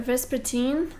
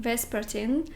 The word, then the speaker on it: Vespertine: i'll go with a vespa team i realized that i've been saying it wrong in all my past videos so i think it's pronounced vespertine by margaret rodgerson and